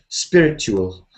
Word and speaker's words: spiritual: spiritual so the TU the T sound can turn into CH spiritual but people don't usually say it like T they say CH spiritual spiritual yeah and it